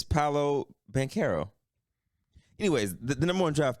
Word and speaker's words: Paolo Banchero: I think it's Paolo. It's Paolo, right? I actually have to look this up, man, because I have trouble pronouncing his damn name. Give me 1 second. Yeah, it's Paolo Banchero.